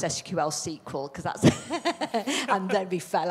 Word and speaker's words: SQL: thought we were doing really well until you pronounced sql sequel because and then we fell out that's an